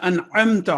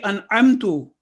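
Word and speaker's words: أنعمت: But if we say an'amtu incorrectly, an'amtu means I blessed.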